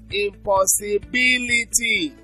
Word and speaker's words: impossibility: Intensification, but we also could have impossibility, so the stress is on the third syllable from the end, ability, so it's on B.